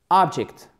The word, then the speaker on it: object: Object. Accent tonique aussi sur la première syllabe.